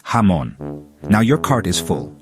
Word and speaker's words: jamón: Also, J sounds like H in jamón, so it's pronounced jamón.